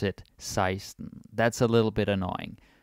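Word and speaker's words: seksten: And also you notice the spelling here for 16 is sexten, but we pronounce it seisten.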